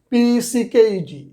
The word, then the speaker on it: pecked: Berry, friend, left, pecked, you see, PECKED, এখানে কিন্তু Dyer sound হবে না, টা সাউন্ড হবে, pecked।